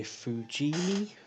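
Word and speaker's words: Fujimi: the lotus esprit s1 the kit is by fujini that's how you pronounce it on the side of the box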